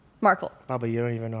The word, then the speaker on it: Markle: Markle or Margle? Markle.